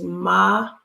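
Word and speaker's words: מחנה: So the word is machane. Machane. So ma cha. That's a guttural. Ne.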